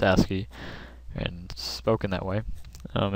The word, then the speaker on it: ASCII: asy it's a i i and it's actually pronounced asy and spoken that way um it's just a